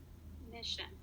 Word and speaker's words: mission: the word sounds like mission great job the stress goes on the first syllable or myth in the word mission because it because it comes before the sion or sh sound i'd like you to